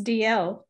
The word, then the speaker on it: Alday: I think it's pronounced DL, is that right, Sandra? It's DL. DL, DL, very good.